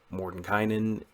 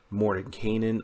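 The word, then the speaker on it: Mordenkainen: kind ins disjunction now Morden Kynan is one way of pronouncing this correctly Morden Kanan I've heard his also officially correct given that Morton Canaan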